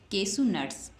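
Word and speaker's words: cashew nuts: नट्स क्या बन गया केशु नट्स है ना उच्चारण है केशु नट्स उसी प्रकार से केशु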